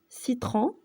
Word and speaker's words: citron: Par exemple, citron, citron, حامض.